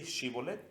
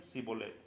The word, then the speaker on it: Shibolet: Si él respondía no, entonces le decían, ahora pues di Shibolet, y él decía Sibolet, porque no podía pronunciar de aquella suerte.